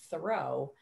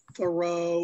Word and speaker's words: Thoreau: we know that his name was jean thoreau or jean tarrou but when you're in boston in an english city in 1773 you don't really want to have a french name and so we think that that's about the time that he anglicized it to john thorough he did not change